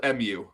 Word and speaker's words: Mu: temples and take congress with the so it's pronounced Mu, but it's just spelled M-U, Mu.